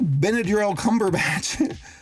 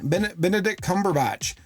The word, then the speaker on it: Benedict Cumberbatch: their soy chai tea lattes and I'm like benadryl cumberbatch how do you say his name Benedict Cumberbatch how about it is the job he does